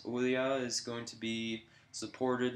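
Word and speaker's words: Ouya: uh there is uh I can never say this I bet you there's going to be a hundred people saying no that's not how you say it but it's Oya I believe it is Oya is going to be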